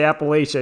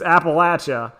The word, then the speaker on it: Appalachia: So for those in the know, in old Appalachia, which is how it's pronounced. If you say Appalachia, you're not from around here. It's Appalachia. Yeah.